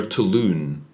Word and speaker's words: Touloun: Touloun. It's apparently a German surname and a word that rhymes with balloon.